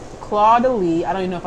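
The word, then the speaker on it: Caudalie: Is it le? I don't know. I think it's le. Codele. There you go.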